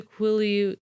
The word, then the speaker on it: Quileute: The Quileute...